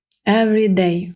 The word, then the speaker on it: every: що ми тут бачимо Everyday в слові Every наша і ніби випадає Every і до До речі